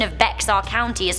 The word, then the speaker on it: Bexar: We've got some insight from Michelle Solomonson, who said, "Hey Rebecca, your pronunciation of Bexar County is not Bexar, it's actually pronounced Bear County.